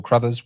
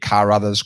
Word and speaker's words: Crothers: My name is Crothers. Well pronounced, by the way. I get Carothers, Crowthers, you quite a lot.